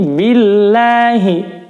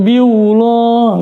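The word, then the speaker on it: بِاللَّهِ: Tapi ketika di sini billahi sebelum lafaz Allah berharokat kasroh, maka dibacanya tarqiq, lamut tarqiq dibaca tipis. Billahi, enteng bacanya, bukan biullah.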